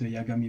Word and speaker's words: Yagami: J'ai bien prononcé, non, c'est Yagami, hein.